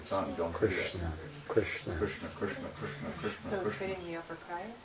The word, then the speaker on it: Krishna: Well, it's in the, you hit the top palate of your mouth, Krishna.